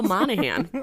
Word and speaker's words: Monaghan: My name is Monahan, spelled with a G.